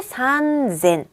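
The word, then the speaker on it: 三千: 어 땡땡이 붙어요 타음이 그래서 산 센이 아니라 혼자서 산쟁이 돼요 쭉 보세요 혼자서 젠이 되죠 앞에 하그 단위에서도 혼자서 산 구가 됐었어요 얘도 똑같이 산젠 얘만 산젠 그리고요 또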